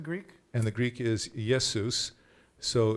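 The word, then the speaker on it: Ἰησοῦς: and the Greek is yes Seuss so it's it's the attempt to mimic as close as possible to Hebrew pronunciation but the issue is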